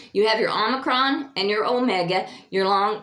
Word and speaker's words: omicron: Your short is omicron as in hot.